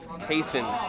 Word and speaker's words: Keithan: I've also just received word that I've been pronouncing the name of one of our champions here wrong. It's Keithan.